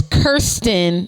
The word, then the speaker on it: Kirsten: case may be um her name is not hard though you just to pay attention well it's Kirsten yeah not Kirsten you only get it wrong if you look too fast but Kirsten is spelled the same way what you mean kiss question is spelled k-i-r-s-t-e-n which is why she said it's Kirsten not Kirsten so I do